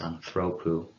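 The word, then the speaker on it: ἀνθρώπου: And notice how I pronounce the genitive as anthropou. That's because the ultima in the genitive singular, that is the ending, omicron upsilon, that's long. And we remember that one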